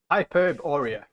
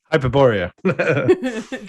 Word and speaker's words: Hyperborea: is best in life hyperb Oreo hyperborea I just mispronouncing it as if it was superb everything is is mispronounced